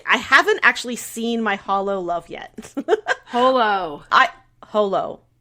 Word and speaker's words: Holo: a it's a hologram but you would say Holo I think you would say my holo no you're because it otherwise sounds like Hollow like h-o-l-o you can always correct